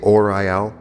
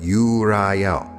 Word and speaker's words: Uriel: On my left hand, Uriel. Some people say orel, but Uriel.